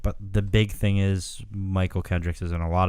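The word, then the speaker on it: Mychal: Michael Kendricks.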